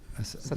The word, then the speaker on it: Satoyama: and I'm going to slaughter the pronunciation. It was a Japanese word. Satoyama? Satoyama, Yeah.